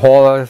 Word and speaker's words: Haul: Und er sagte, wie H-U-L, Haul sagt man dazu, schreiben tut man es H-A-U-L.